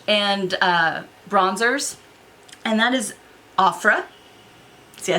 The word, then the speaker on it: Ofra: So, up next is from a brand I'm very familiar with, but I've only used their blush and bronzers, and that is Ofra.